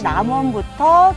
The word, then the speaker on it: 남원: hỏi tốc độ] - Nammun! - Nammun? - Tôi nói sai sao? - Nammun? Bạn hãy thử phát âm lại cho đúng xem Namwon [Namwon, thánh địa của